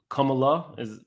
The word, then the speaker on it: Kamala: And I know I pronounced it wrong. I'm trying. It's Kamala.